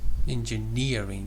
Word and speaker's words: engineering: software engineering student student engineering you put a stress on another syllable I don't remember but anyway engineering say engineering engineering yes and how